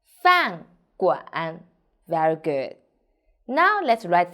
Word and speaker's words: 饭馆: 我们一起读饭馆 f an 饭 g 碗馆饭馆 So pay attention, here is 乌安湾 g 碗馆饭馆 Very good.